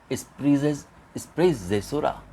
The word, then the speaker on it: sprezzatura: So better pronounced is sprezzatura.